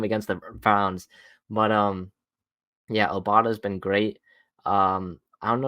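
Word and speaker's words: Obada: Yeah, Obata.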